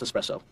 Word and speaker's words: espresso: Actually, it's pronounced espresso.